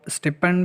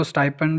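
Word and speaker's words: stipend: کوئی دیتا ہے تو اس کو آپ اسٹیپنڈ بھی کہتے ہیں اکثر لوگ، اور اس کو اسٹائپنڈ بھی کہتے ہیں، تو دونوں میرے خیال سے پروننسیشن ٹھیک ہیں، ہر کوئی اپنے لہجے کے حساب سے کہتا ہے، تو میں اسٹیپنڈ ہی کہوں گا۔ ابھی بھی کچھ امید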